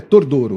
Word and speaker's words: Tordoro: Tenente Coronel Tordoro, nós estamos comentando que tem a pronúncia diferente, pode ser Tordoro ou Tordoro. O correto é Tordoro. Tordoro. Tordoro, de origem italiana.